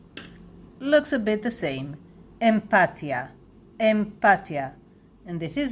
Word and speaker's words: אמפתיה: a lone word looks a bit the same empathia empathia and this is how we pronounce it empia empathia empathia if you want to know more about